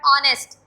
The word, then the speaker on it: honest: बेटे ये word ऑनेस्ट है, नॉट हॉनेस्ट, यहाँ पे ओ साउंड प्रोनाउंसिएट करेगा, एच की साउंड जो है वो साइलेंट है, इट्स word honest.